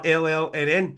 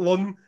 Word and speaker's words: Llnn: first time we are llnn so it's done the band themselves have pronounced it from the stage so we have to accept it's not Lun it's not Lyn it's llnn they were